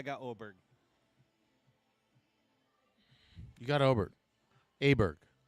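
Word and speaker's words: Åberg: Aberg. Oberg. Is that how you say it? It's Oberg.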